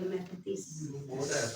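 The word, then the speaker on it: μαθητής: आपको यूज़ हो जाएगा मैथिस टी साइलेंट है ठीक है तो वो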